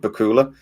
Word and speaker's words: Bakula: I said it Bakula because I thought it was funny because I know he famously said that it's like Dracula.